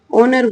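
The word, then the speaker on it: honour: ओनर को अब जो आर्टिकल रहेगा, जैसे इसमें एच लिखा, लेकिन उसको होनर नहीं बोला जाएगा, ओनर बोला जाएगा।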